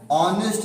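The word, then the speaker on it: honest: इसमें ये क्या लिखा है, ऑनेस्ट लिखा है, हॉनेस्ट नहीं लिखा है। इस प्रकार से एच यहाँ पर भी साइलेंट है।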